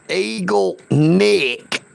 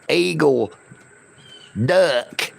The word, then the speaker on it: Eagle Nick: It is Eagle Nick. N I C K, not Eagle Duck.